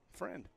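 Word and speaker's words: Frund: Alex FR FR FR his friend friend like friend okay friend two outs for our listeners and viewers they're they spell it f Ru n d so friend 0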